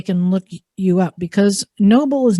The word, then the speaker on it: Knoble: that one just but you don't you don't pronounce it knoble like evil um the telemarketer is pronounced at